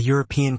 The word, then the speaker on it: European: Examples: a university, a European country, a useful idea. Although these words begin with vowels in writing, they begin with the consonant sound U in speech.